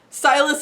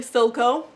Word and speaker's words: Silco: Also, we learned that Silas is actually Silco. I was just saying his name wrong.